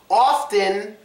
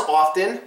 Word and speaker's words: often: So we have three words here: often, drifting, lifting. But you can pronounce often, often, or often. It's up to you.